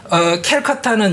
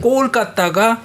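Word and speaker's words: কলকাতা: 그러니까 캘커타는 영국식이고요. 꼴까따가 현지 발음입니다.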